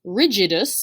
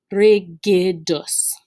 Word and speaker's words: rigidus: are pronounced in latin this word is not pronounced rigidus although it is where we get our word rigid from it is in fact pronounced regedus you don't have to rule your r's